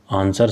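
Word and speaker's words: answer: बोल के देखो इसको, आंसर W कहीं आपको नज़र नहीं आ रहा होगा, साइलेंट है ये।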